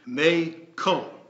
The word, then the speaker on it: McCall: McCall by the way the family name is technically pronounced May Cole which I don't think